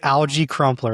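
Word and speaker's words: Alge Crumpler: Yeah, It's Algie Crumpler. That's Algie how that's Crumpler. how his yeah. Oh, the Algie Crumpler will get you, children.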